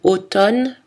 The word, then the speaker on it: automne: les deux amnésique amnesty attention dans les mots automne condamné on prononce seulement le n à la fin des